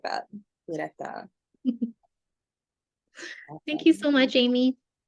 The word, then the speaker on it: Ureta: Ureta.